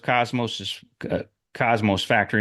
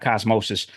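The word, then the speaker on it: Cosmo's Factory: After the release of Cosmos Factory, not Cosmosis, Cosmosis rhymes with osmosis.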